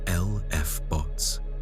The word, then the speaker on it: LFBOs: These explosions have been formerly named luminous fast blue optical transients, often shortened to LFBOs, pronounced LF bots.